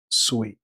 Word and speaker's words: Sweatte: She spells her name Sweatte. I wouldn't have thought that was Sweet, but apparently that's how she knows how she pronounces her name. She pronounces it Sweet.